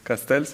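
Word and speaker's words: castells: living heritage and uh for example the castels castels is that how you pronounce them the towers the human towers Yeah.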